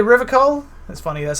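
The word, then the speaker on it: Revachol: feet rhetoric easy success he pronounces River coal hard K unlike most people you say River coal that's funny that's how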